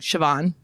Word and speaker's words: Siobhan: But in Ireland, it's like Siobhan.